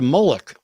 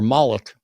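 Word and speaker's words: Moloch: sacrifice your children to mullik or mik depending on how you prefer to pronounce it exactly exactly that's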